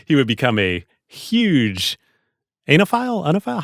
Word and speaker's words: oenophile: He would become a huge anophile? How do you pronounce it? I have no idea. I think it's like OENOPHILE, the wine lover, onophile.